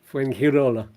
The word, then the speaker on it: Fuengirola: Yeah, the G's are pronounced like an H. Fuengirola. So, ish.